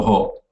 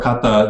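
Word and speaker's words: 方: Robu no ho. Or robu no kata. Ho or kata, these are pronounced differently, but the same kanji.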